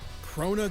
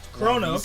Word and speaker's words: Crona: unbreakable friendship you know all that anime crap crona gorgon was not chronos okay i said it right buckle up it's